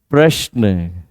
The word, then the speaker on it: प्रश्न: प्रश्न। सिर्फ होठों का जुड़ाव ही रहेगा।